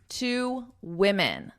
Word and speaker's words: women: So one woman, two women. I want you to notice my pronunciation. One woman, woman. Two women.